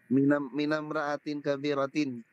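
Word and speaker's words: من امرأة كبيرة: Kung mayroong min, ang alif hindi bibigkasin. Naam, Sheikh. Sige, try mo nga. Huwag mong bigkasin ang alif. Dito, sa number 2. Min. Minamriin kabiratin. Ulit. Minamraatin kabiratin.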